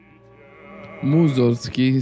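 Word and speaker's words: Mussorgsky: l'ho cantato però no ma appunto cioè Tchaikovsky Moser Sky sono tutti compositori che io amo molto musorgsky si pronuncia Sì sì sì bene Vedi che mi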